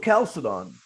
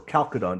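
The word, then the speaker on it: Chalcedon: at the council of calciton or calcodon depends how you want to pronounce i prefer calcium it was not the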